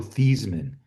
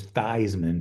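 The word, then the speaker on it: Theismann: Yeah, the Redskins have had a quarterback named Joe Thesman, later to be known as Thyman to rhyme with Heisman.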